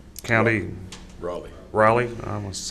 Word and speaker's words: Raleigh: of Galveston, Galveston, Texas City of College Station, Raylene County. Raleigh, I must say it right, yeah.